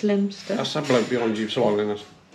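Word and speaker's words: Leominster: SS strange ER Island ER Island in near lemonster lemster lemonster lemster lemonster lemster you're pronouncing it wrong it's not it's lemster I be you SW us there nobody there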